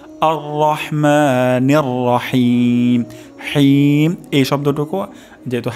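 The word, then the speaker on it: الرحمن الرحيم: হিম এখানে হিম গলার মাঝখান থেকে হবে এবং হিম 3 আলিফ পরিমাণ টান হবে, অর্থাৎ টান দিতে হবে।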